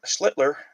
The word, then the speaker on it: Schlitler: Schlitler, not Schller.